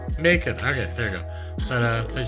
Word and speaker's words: Macon: You're putting emphasis on the second syllable. It's fine. I used to live in Georgia. It's just Macon. Macon. Okay. It's like bacon, but with an M. Macon.